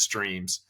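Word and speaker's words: S7REAMS: A Ms um so we still pronounce it as streams um but you know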